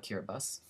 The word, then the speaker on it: Kiribati: I know that the the ti is not pronounced T obviously um because the word